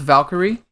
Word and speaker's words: Valkyrie: Is it pronounced Valkyrie?